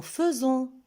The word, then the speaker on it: faisons: Je remarque qu'avec le pronom personnel nous, on voit dans le verbe est, AI, mais on prononce E et on dit nous faisons.